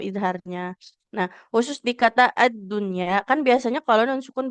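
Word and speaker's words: الدنيا: Tapi di kata ad-dunya ya, ini juga sempat pernah ada yang bertanya ya. Karena kalau untuk di kata ad-dunya itu pengecualian tidak jadi idgham ya, tapi jadinya izhar.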